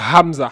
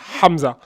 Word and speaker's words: Hamza: un H mu mais dans la langue arabe on le prononce bien il s'appelle Hamza Hamza tu vois donc il